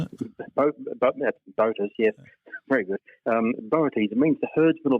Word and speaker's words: Boötes: Boötes, it means the herdsman or the ploughman.